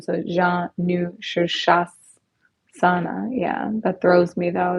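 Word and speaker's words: Sirsasana: pronunciation so Jean new shoes Sana yeah that throws me though they have a weird phonetic spelling on that but it's s-i-r-s-a-s-a-n-a so it's a bit of a tongue twister sir sure say that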